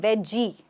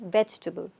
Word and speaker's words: vegetable: vegetable okay we don't we're not even saying veggie we're saying vegetable I have to tell you there's someone I know who actually says weable yes it's a fact and that is something we shouldn't be saying so say vegetable very